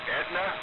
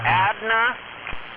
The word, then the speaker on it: Adna: in, let me say, I always say it wrong, Edna, up there by Chehalis. You mean Adna? There you go, Adna.